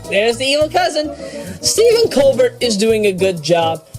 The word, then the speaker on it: Colbert: Don't get me wrong, Stephen Colbert is doing a good job. Oh, there's the evil cousin. Stephen Colbert is doing a good job.